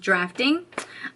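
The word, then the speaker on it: draughting: New Jersey, the drafting pencil, which is pronounced drafting. I was actually going to say drowning because it's spelled on the pencil D-R-A-U-H-T-I-N-G, but it says here is pronounced as drafting.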